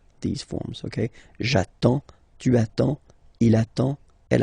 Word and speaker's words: j'attends: So the first form will be j'attends. J'attends. Okay, you get D and S, well basically you don't pronounce them, okay, and then you get only the sound attends, nasal here, en, j'attends, okay.